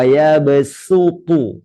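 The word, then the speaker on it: يبسط: Wallahu yaqbidu wa yabsutu. Sutu. Baca sin. Nggak boleh dibaca sode.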